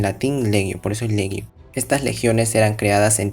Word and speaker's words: legio: del latín, la gi como nosotros veríamos, se pronuncia como gi, en latín legio, por eso es legio.